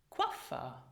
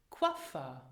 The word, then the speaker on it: Coiffeur: And then the diphthong OI is not pronounced oi, but it is pronounced as in French wa. Examples. Droit. Droit. Coiffeur. Coiffeur.